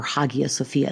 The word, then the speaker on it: Hagia Sophia: introduction to a Sophia or Hagia Sophia it's actually pretty oun both ways I tend to use what I think is the old Greek pronunciation we'll spend almost all